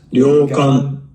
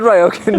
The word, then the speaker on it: ryokan: Luke is actually pronounced Yokan. Yan, not Wen. Where did we get that? I said Ryoken to my Japanese friend Anna and she was like, "What?